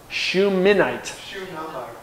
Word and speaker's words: Shunammite: How do you say her name? Shunammite. With an N and then an M, I think. Shunammite.